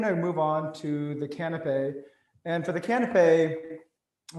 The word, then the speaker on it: canapé: So I did pronounce it correctly earlier, canapé?